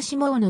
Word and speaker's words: Simone: シモンと名乗ったフランス語では nina シモーヌの発音となる 50 年代後半